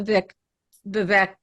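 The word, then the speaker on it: Vivek: whereas somebody like the Vic bevac rhymes with fake and cake and shaking I think throwing bombs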